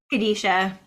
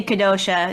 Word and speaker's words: Kadesha: Kadisha. Kadisha. Although some would say Kadosha, depending on how you take the Hebrew, but yeah.